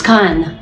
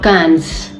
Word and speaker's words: Cannes: And yes, please, it's Cannes, okay? Not Cannes. S is not pronounced.